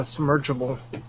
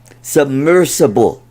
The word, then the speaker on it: submersible: Submersible. Submergible? So how do you say it? There's no J in there. Submergible. Submersible. How do you say it? Submersible. Maybe it's practice.